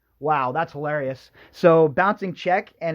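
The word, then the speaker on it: Czech: So, Bouncing Check, and it's spelled C-Z-E-C-H.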